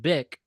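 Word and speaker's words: Bích: pronounced bick refers to a precious gem like jade often associated with purity and elegance.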